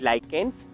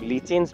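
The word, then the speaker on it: lichens: Viruses, viroids, prions and द लाइकेंस, कई लोग लीचेंस भी प्रोनाउंस करते हैं, वो अनक्लासिफाइड ऑर्गेनिजम्स के अंदर जनरली हम इंक्लूड करते हैं।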